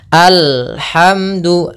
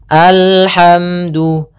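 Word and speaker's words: الحمد: di dalam membaca alhamdulillah Yang pertama yaitu dia memantulkan huruf lam lam memantul memantul Ah ini salah Apabila ada huruf lam mantul maka dia salah contoh memantul Bagaimana Alhamdulillah Ini mantul atau alham alham ya atau misalnya sakta alhamdu Ah ini salah juga harusnya dia mengalir suara lamnya alhamdu Alhamdulillahi kemudianbil padafal ro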